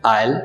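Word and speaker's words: isle: दूसरा वर्ड है आयल, जिसका स्पेलिंग है आई एस एल ई। पहले की तरह इसमें भी एस साइलेंट है और इसके मीनिंग से टापू, द्वीप।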